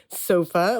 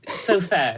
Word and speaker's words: Sofaer: how you say it sofa like the couch or no well probably originally it wasn't anyway so fair so fair so fair oh great okay that's much easier to say what I've been saying